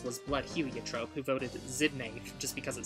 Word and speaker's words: Xidnaf: just awesome if you don't pronounce my name zidna pronounce it like this I officially endorse this as